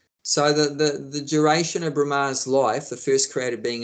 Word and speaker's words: Brahma: yeah I just asked did you call him Brahma or Rama uh B for balarama B r a m no sorry